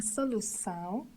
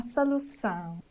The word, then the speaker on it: solução: Letter O situated at the end of termination on, são, should be said nasally with the whole termination. For example, a situação, a situação, a solução, a solução.